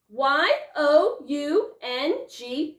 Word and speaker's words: young: anyway right of course young y o u n g young um well that oh you sounds like a short u sound well you know what